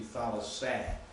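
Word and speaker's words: θάλασσα: But thalassa, actually, because if you have an acute accent on the antepenult, then your ultima has to be short. Has to be short. So it really should be thalassah. Because your alpha says ah or ah.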